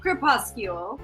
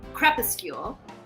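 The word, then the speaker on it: Crepuscule: Um, well, we called it Krypuscule. The word is actually pronounced, which we only found out later, crepecule.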